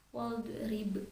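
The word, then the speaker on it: واضرب: Terasa ya huruf do sukun itu hanya menggeser lidah saja cara melafalkannya. Tidak boleh dipantulkan seperti wadrib, seperti huruf ba itu yang termasuk huruf qalqalah dan membacanya wajib dipantulkan ya. Tapi huruf do tidak boleh dipantulkan, hanya menggeserkan lidah saja. Wadrib gitu ya.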